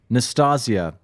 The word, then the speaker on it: Nastasia: I recently heard that it's Nastasia. Nastasia. I forgot one of the S's. So yeah, Nastasia.